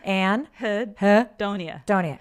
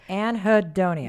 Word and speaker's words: anhedonia: Anhedonia. Anhedonia.